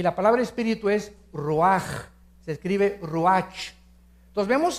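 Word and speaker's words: רוּחַ: Neph se pronuncia nepej porque la ch en hebreo es nepeg y la palabra espíritu es roaj. Se escribe ruach.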